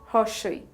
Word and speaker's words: ই: The next letter is hoshoi. The pronunciation is similar to the E of ink in English.